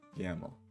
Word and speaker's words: YAML: ain't markup language it's a recursive acronym so yaml that's where we're at now what goes in your tasks. yaml file uh research task description conduct a thorough